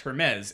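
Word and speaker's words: Hermès: joking i don't know i just know that they're pronounced Hermes and when they were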